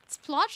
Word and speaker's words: Splot: Splot is pronounced with an a sound. Saying it with ooh makes it sound like you're saying splooge, which is kind of naughty.